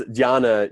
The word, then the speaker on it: Jnana: And then the last is Dhyana Yoga, which is spelled Jnana. And that Jn, it's similar to our word knowledge starts with that KN, that's sort of why, what's weird, right? It's the same sort of thing, jnana and knowledge.